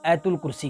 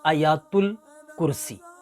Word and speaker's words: آیات الکرسی: آپ کو بتاتا چلوں، اکثر لوگ اس کو آیت الکرسی کہتے ہیں، تو آیت الکرسی نہیں، آیات الکرسی، جو صحیح اس کا تلفظ ہے وہ ہے آیات الکرسی۔ پھر عشاء کی نماز